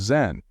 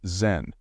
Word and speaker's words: Zen: or meditation that constitutes zen. Zen is simply the Japanese way of pronouncing dana.